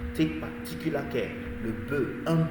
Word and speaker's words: bœuf: The F at the end is not pronounced. Take particular care. Le bœuf, un bœuf. No F, not bœuf, no.